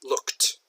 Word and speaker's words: looked: something like this that's not look at that looked it's actually pronounced more like L ook teeth looked so that even though it has the Edie